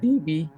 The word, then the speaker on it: Davey: uh is it does Davy is it how was it pronounced is it Davy oh Davey D yeah like devie devie okay so you hear devie